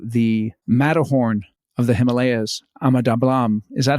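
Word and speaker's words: Ama Dablam: wonderful trip to the Matterhorn of the Himalayas, Ahmadabalam. Is that how you pronounce it? Tell us about that. Yeah, Ahmadabalam.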